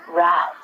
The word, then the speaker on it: wrath: Trek fans out there, wrath. Famously, the Wrath of Khan. I have no idea what the Wrath of Khan is, but I will tell you that the W is silent, so don't say it.